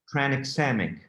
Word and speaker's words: tranexamic acid: acid tran okay how do you say it tranexamic okay transcendic acid when you have a vm